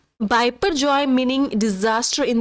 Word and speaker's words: Biparjoy: बिन नामेद bye Bangladesh so in Bengali IT इस called में पोर्जोय note D बाय पर जय way bill pronounce IT joint wiper जय मीनिंग डिजास्टर इन डी